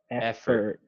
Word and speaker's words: effort: that was good um the o it sounds more like an e like er f for er effort effort right effort okay so i